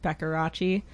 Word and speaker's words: Beckerachi: It's an old nickname from like middle school, but it's spelled BECKERACHI. Sorry, Beccarachi.